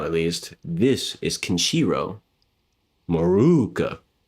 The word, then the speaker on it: Morooka: As you guys know, now at least, this is Kenjiro Morooka. Make sure you pronounce that double O.